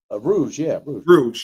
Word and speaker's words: Khmer Rouge: Rouge, yeah.